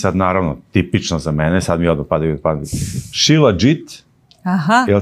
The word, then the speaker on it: Shilajit: Shilajit. Aha. Did I pronounce it correctly? Yes, yes, Shilajit.